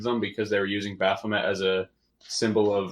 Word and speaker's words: Baphomet: and all is that you said bath lemon yep I thought it was a Baphomet oh yeah I mispronounced your right yeah yeah cuz